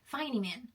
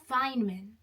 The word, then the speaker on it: Feynman: God for Richard fman if anyone fyman I say it wrong Fineman I'll get it it's fine Fineman there is this trait